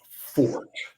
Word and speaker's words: Forte: the running the number the correct pronunciation of number four is Fort uh meaning somebody's strength my fort as a handicapper is